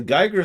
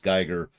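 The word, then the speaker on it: Giger: it's spelled g-i-g-e-r but i've always heard it pronounced geiger like a geiger counter so whatever would it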